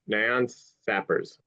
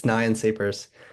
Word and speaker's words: Nyan Sapers: So, um, okay, first speaker, Nion Sappers. So, sorry about mispronouncing your name. Just correct me. No worries at all. It's it's Nyan Sapers.